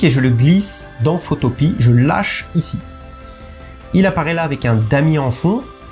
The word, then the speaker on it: Photopea: Donc ce site, pas plus de suspense, c'est Photopea, si je le prononce à la française.